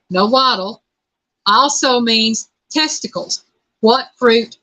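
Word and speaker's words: Nahuatl: it's pronounced it's pronounced no waddle it is spelled n-a-h-u-a-t-l and it's pronounced no model also means testicles what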